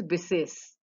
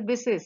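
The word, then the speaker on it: बिसेस: Special is bises. So in Hindi it is called vishesh. अरे कुछ विशेष नहीं है. Or you know that's actually different. I mean you know that is pronounced as bises here.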